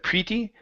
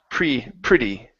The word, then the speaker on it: pretty: Give me a short I there instead of pretty. Pretty. Pretty. Okay, so the split hadn't been pretty.